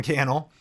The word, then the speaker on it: Cannell: Some products, me, Sean Cannell, rhymes with YouTube channel, video blog with my wife, Sonia, green juice, kind of like that life hack.